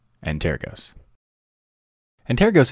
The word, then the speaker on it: Antergos: tux digital today's episode and tear goes and tear gas and tear ghosts and tear gas antair ghosts is a Galician word that means ancestors Galicia is an autonomous